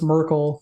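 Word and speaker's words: Myrkul: Is it Merkel or Merkul? Because Merkel sounds like Urkel, and that makes me laugh. It rhymes with Urkel. It's Merkel.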